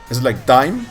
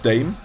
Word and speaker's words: Dame: Is it like Dime? Am I actually mispronouncing it? It's more like Dame. Dame Chi-Chi? I keep calling you Day M Chi-Chi because of Day 9.